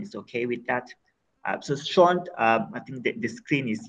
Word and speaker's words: Sean: It's pronounced Sean, although it's spelled S-E-A-N.